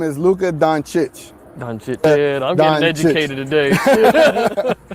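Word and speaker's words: Dončić: James Harden hard hard so the proper way to pronounce is donich okay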